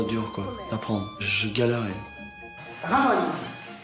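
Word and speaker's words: Ramón: Ramon. Raman. Ramon. Comme si tu ramones quelqu'un.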